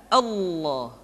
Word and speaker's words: Allah: yang ketiga ini adalah pengucapan lafal Allah Hai level Allah dimanapun kapanpun maka alam yang terdapat pada level udahlah tersebut mesti ditebalkan Allah Rasulullah kecuali kalau lafadz Allah didahului oleh huruf yang berharakat kasrah maka lam kembali dibaca